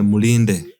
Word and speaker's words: Mulinde: No, say it like a Uganda. Mulinde. Mulinde. No, you're saying it like we're Indian.